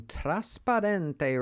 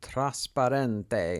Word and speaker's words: Trasparente: I'm using Trasparente Resin by Resin Pro. There is no N in there. People mispronounce it. I even mispronounced it. It's called Trasparente in Italian.